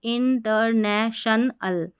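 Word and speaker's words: international: इन टी ई आर टर एन ए ने टी आई ओ एन टी आई ओ एन को शन पढ़ते हैं। ए एल को अल करके पढ़ते हैं। तो इंटरनेशनल इंटरनेशनल इंटरनेशनल और देखिए ये शनल है।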